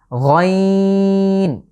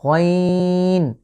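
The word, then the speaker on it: غين: এই লেটারটা আমাদের কণ্ঠের ঠিক শেষ ভাগ থেকে বা কণ্ঠের শেষ হলক থেকে উচ্চারিত হচ্ছে। আমরা এর আগে একটা লেটার পড়েছি খ। খ এবং গইন এই দুটো লেটারের মাখরাজ বা উচ্চারণের স্থান এক। গইন, খ।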